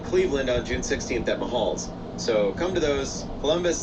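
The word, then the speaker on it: Mahall's: I keep saying it wrong. Mahal's, Mayhall's? Mayhall's? It's a Blackbird Lounge. Wait, are those the same place? It is Mayhall's.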